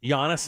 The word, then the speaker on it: Giannis: people expected the sun i had to teach them this the g is silent oh is it honest giannis okay um but go